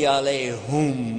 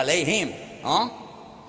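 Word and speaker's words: عليهم: Ghayrul maghdubi alayhum wala dhalin. Whoops. Ooh, yeah, alayhim. Actually, it's both because there is another pronunciation, but the common one.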